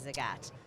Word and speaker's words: Zagat: office and it said think the cat but say Zagat so that's how I